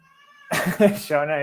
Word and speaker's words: Shauna: Shauna is correct. Shawana not correct.